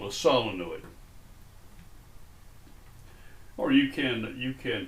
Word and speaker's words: solenoid: of iron coil of wire is called a solenoid or you can you can pronounce it the way we used to pronounce it in my childhood days in the deep south a solenoid but it is spelled solid okay so a